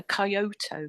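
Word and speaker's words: Kyoto: Um always have a pronunciation a coyoto k y o t o.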